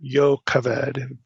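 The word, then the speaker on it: Jochebed: So it says, Amram took his as his wife, Jacobed, his father's sister or Yaved be the better Hebraic pronunciation.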